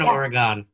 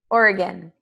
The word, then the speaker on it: Oregon: right is it Oregon Oregon Oregon they say like locals say Oregon and you can tell if someone is not local by Oregon right yeah totally let